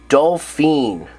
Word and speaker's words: Dolphin: of the most useful dolphin or as they pronounce it dolphine doy go